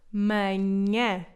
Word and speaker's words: manhã: A quarta palavra é manhã. Manhã. Outro som difícil, este nhe, está presente em muitas palavras portuguesas.